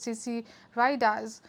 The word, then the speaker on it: CC Riders: Riders Compton Crypt Riders pronounced CC ridas and often spelled with a z CC Riders the term